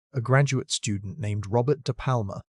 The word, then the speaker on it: DePalma: In 2007, a graduate student named Robert Depalma, pronounced doo palm moo, found exactly that in the Hell Creek Badlands of South Dakota.